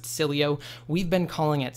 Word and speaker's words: Sileo: or down below in the description now it's pronounced Sileo we've been pronouncing it one way simply because